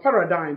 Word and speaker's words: paradigm: not parenting or parenting but paradigm PA ra di G M G is also silent and strong you are